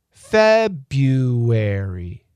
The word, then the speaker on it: February: February gets reduced to February. That R is reduced.